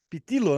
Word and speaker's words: Pitillo: Hoje eu estou aqui com o meu amigo João Cláudio Platenic Pitilo, como é que seria a pronúncia correta? Pitilo, né?